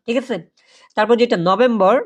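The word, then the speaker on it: November: আছে অক্টোবা অক্টোবার না ঠিক আছে তারপর যেটা নভেম্বর নভেম্বর মাসকে বলে কি নভেমবা নভেমবা নভেমবা ওকে নভেম্বর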